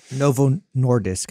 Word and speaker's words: Novo Nordisk: zenek I believe there Novo nois is it norvo nois did I say it right yeah Novo Nordisk I yeah I say that three times fast